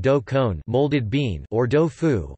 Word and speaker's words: đậu phụ: con, molded bean, or do phu, one of the Vietnamese ways to pronounce the Chinese du phu.